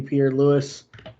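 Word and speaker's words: Piñeiro: Lou Eddie Pier Lewis Eddie Pierre Lewis we have been corrected on pronunciation Eddie Pierre Lewis I'm gonna keep calling him Ed Eddie Pier Louie it's it's so much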